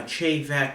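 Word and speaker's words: Te Bheag: Now Che, the way you would spell it is T-E, and then the next word is B-H-E-A-G-H. Once again, no connection between the Gaelic letters and the pronunciation.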